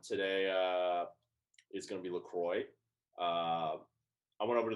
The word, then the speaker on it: LaCroix: sodium zero sweetener zero calories equals innocent pronounced lacroix by americans but if you're french the qua which if you pronounce that in america please stop it's lacroix there you have it so let's break into